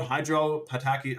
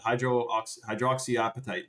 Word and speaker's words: hydroxyapatite: Toffee Man says, talk about hydropataki. I know, I forget how to pronounce that, but hydroxyapatite. That's right.